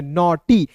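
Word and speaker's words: naughty: ट और अंतिम में वाई है तो इसका उच्चारण बड़ी के रूप में करेंगे नॉटी एन ए यू जी एस टी वाई नॉट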